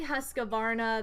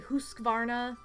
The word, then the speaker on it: Husqvarna: you guys is uh i say husqvarna that's not the correct way to say it it's really husqvarna but i'm not a viking so i don't know how to say it like a viking by the way the